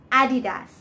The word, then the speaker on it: adidas: adidas i seriously have heard some very strange pronunciations for this name but it is adidas adidas it is a french brand and the